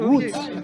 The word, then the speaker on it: Łódź: Łódź. Ah, Łódź. Voilà. Pas bien la prononciation. Voilà, Łódź.